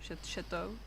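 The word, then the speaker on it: Chatot: Oh, how do you pronounce it? Chat Chatau.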